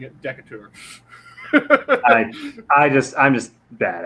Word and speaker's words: Decatur: of yours no clue and yes it is decatur but i always have fun whenever i see that name pronouncing it decatur i just i'm just bad at names i